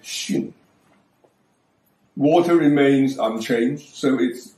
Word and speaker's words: 巽: Above is the old pronunciation sun. Now it is pronounced shin.